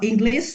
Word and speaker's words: English: and then English so the s h sound should be English no English but English sh sound yeah and then the